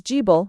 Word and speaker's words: Gibil: fire god written db billilg and to be pronounced in the inverted form as gible with argible with argod or ga as the phonetic complement.